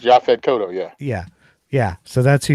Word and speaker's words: Yaphet Kotto: Yes, I believe it's Yaphet Kodo. I That's know Yaphet Kotto? I'm mispronouncing his name. Yes. No, it's Yaphet Kotto, yeah.